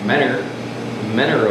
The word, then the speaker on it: Mentor: I am from a semi-small place called Mentor, Ohio, and I'm gonna say it right, Mentor, Ohio.